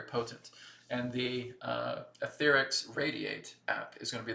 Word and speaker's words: RAYD8: is that all about well etheric radiate and it's spelled r a y d8 okay radiate is going